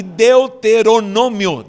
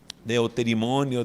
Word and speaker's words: Deuteronômio: se chama números e deuteronômio deuteronômio que muita gente se confunde ao pronunciar de eu ter imonio deutero de nome o deus deuteronômio deuteronômio significa segundo nome significa